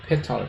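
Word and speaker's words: petal: 그 다음에 꽃잎, 페럴이라고 페탈 또는 페럴 발음.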